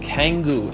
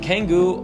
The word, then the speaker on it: Canggu: Now, number 2 on the list is a place called Canggu, and Canggu, or Canggu, depending on how you want to pronounce it, is definitely one of my most favorite developed areas in Bali.